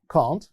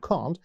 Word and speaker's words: can't: طبعا احنا عارفين اني ممكن انطق كلمة كلمة دي اللي هي can't. In British English بنقول can't. In American English بنقول can't. And both of them are right.